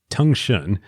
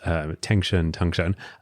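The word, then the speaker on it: 腾讯: So they start the company, they need to choose a name, and they come up with Tengshun, I believe is how it's pronounced, Tengshun, which literally in Chinese means galloping message.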